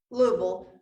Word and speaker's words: Louisville: So there's a, well, I will talk about the APA in a little bit, but Thunder over Louisville is Louisville. That's how they say it there, Louisville.